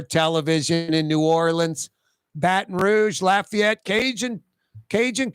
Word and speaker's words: New Orleans: and no one says noin no one says two syllables noin no one there's no new orle in anywhere n Frank Davis naturally